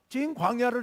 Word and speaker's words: 신광야: 이스라엘 자손의 온 회중이 여호와의 명령대로 신광야를 떠났고, 성경에 신광야가 두 군데 나오는데 여기서는 그쪽 발음으로는 찐광야입니다. 찐광야를 떠났고 그 노정대로 행하여,